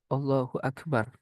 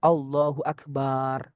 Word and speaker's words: Allahu Akbar: Contohnya arrahmanu akbar atau dibalik akbaru Allah atau barnya panjang Allahu Akbar enggak sah. Atau a-nya panjang Allahu Akbar enggak sah. Atau antara Allah dan akbar ada huruf wau Allahu Akbar itu juga tidak sah.